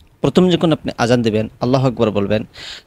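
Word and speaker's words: الله أكبر: অনেকেই আছেন যারা আরবি বিষয়ে তেমন দক্ষ না, তারা আল্লাহু আকবার বলে ফেলেন, অর্থাৎ আল্লাহ ফু ফা উচ্চারণ করেন এখানের মধ্যে। এটা সম্পূর্ণ ভুল, আপনি অক্ষরটা পরিবর্তন করে ফেললেন।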